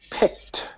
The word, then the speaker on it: picked: So, picked picked. Yeah, it's an ed suffix. It has three sounds. In this case, because it has a k p i c k, we pronounce it with a t sound.